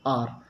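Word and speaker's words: hour: बहुत सारे लोग इसको हावर पढ़ते हैं और ये सोचेंगे एस से स्टार्ट हो रहा है, ये गलत है। इसका सही प्रोनाउंसिएशन है, यहाँ देखें, आ वर, ऐसे पढ़ते हैं इसको, आर। वैसे भी आवर भी नहीं है, यदि सही ढंग से देखें तो इसका प्रोनाउंसिएशन है आर, ठीक है।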